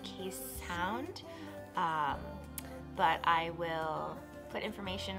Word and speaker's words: Keeshond: They're pronounced Keeshond.